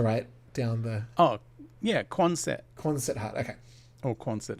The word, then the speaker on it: Quonset: Concert hut?